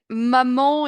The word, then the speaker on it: maman: avait la prononciation accueillant attention à maman et moman ça se ressemble un peu mais ma man Mo ouais maman moment ça se ressemble comme mot mais ici c'est un a ma maman moment ok super